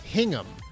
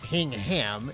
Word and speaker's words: Hingham: now i remember it hingham you know it's it's not hing ham it's hingham interesting i love all